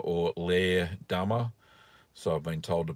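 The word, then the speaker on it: Leerdammer: So with another cheese like Leerdama or Leerdama, so I've been told to pronounce it, it needs to be able to expand because it's going to have eye formation.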